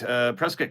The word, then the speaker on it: Prescott: Anyways, Punch Mike says you pronounced Prescott correctly, just like Biscuit. Yeah, Prescott is someone very close to me was raised in Prescott.